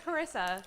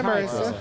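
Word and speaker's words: Charissa: Hi, my name is Carissa. Hi, Marissa.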